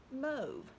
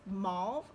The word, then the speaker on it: mauve: dictionary that said that the pronunciation of mauve is actually moved well let us go ahead and address that in America it is mauve all day long and I can show